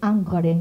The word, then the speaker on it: Ingres: que se llama Ingres, porque me gusta decirle así como se escribe, pero es Angre, ¿no?, en francés, Jean-Dominique Ingres, que es un académico.